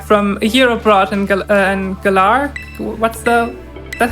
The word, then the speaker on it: Galar: just came back from a year abroad and galar what's the that's how you pronounce that yeah you pronounce it correctly okay